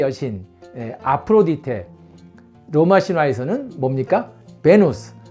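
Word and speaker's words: Venus: 베누스, 굳이 영어식으로 발음하면 비너스가 되겠습니다.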